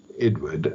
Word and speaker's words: Edouard: The Edouard is spelled unusually, it is E-D-O-U-A-R-D. Edward, that is, the citation is 1993